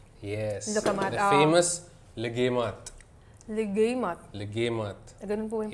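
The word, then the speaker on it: Luqaimat: famous legemat. Legimat. Legemat. Ganun po yung Yes.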